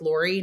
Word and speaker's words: Lore: go to connect with Lore. Now, my name is spelled Lore. My real name's Dolores. So that's Lore is Dolores chopped up.